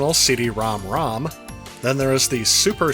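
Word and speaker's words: CD-ROM²: However, it is officially pronounced CD-ROM-ROM as opposed to CD-ROM Squared or CD-ROM2.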